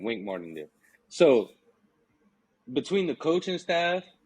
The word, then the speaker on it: Wink Martindale: Mark Weedingdale, I always say his name wrong.